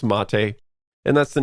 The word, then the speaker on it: MATE: case is mate even though it looks like mate it's pronounced mate and that's the name of the desktop environment